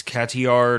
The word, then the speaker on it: Cotillard: So, up first, Marion Cotillard, which I guess it's Cotillard or something. I don't know. Cotillard. The D is silent.